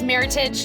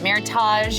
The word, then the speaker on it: meritage: So it is meritage, not meritage. Yes. It rhymes with heritage.